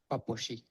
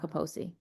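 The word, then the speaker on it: Kaposi: without imunocmpromised state okay that's how you pronounce it in Hungarian thank you Dr. Krauss papushi. Okay. Not caposi.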